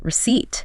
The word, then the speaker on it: receipt: Silent P, psychologist, receipt. The P and receipt gets people.